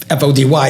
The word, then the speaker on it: Foti: FY fot TI yes so you can pronounce it fod y if you want however you want to pronounce it but yeah great interview